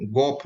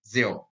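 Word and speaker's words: Geoff: बहुत सारे लोग जियोफ को गोफ भी पढ़ते हैं, जो कि गलत है। इसका सही उच्चारण जो होता है वो जियोफ।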